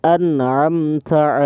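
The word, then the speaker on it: أَنْعَمْتَ: Kalau misalkan ini bacanya ini an'amta. Jadi jangan nyebutnya siratal ladzina an'am itu kalau misalkan imam seperti itu salah ya teman-teman. Jadi ini huruf hamzah depannya ya.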